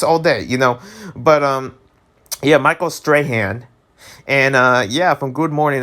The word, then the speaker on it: Strahan: That's how you say it, Michael Strahan.